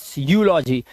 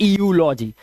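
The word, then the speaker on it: eulogy: एंड ईयू यहां पर भी है यूलॉजी, ना कि ईयूलॉजी, इट्स यूलॉजी, ठीक है, यूलॉजी।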